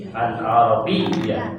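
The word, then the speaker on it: العربية: Kalau bertemu tasydid perlu ditekan membacanya. Alif fathah, lam sukun, ain fathah, ra fathah, ba kasrah, ya tasydid fathah. Ini harus pakai tasydid. Biya. Al-arabiyyah.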